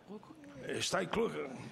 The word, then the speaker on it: Jutta Steinbrück: Senhora Juta, eu estava aqui querendo saber como é que eu pronuncio aqui agora. Juta, e o sobrenome? Steinbrück. É isso? Steinbrück.